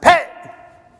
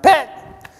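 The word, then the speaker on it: phat: but that's how it's pronounced like pet but not just pet it's like pet like it's sharp as you can less than one syllable pet is like one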